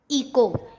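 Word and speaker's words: echo: जैसे honour, honest, our, इको। इसको ईचो नहीं पढ़ेंगे, CS से चा बोलते हैं ना, तो इसको ईचो नहीं पढ़ना है, इसको क्या पढ़ना है? इको।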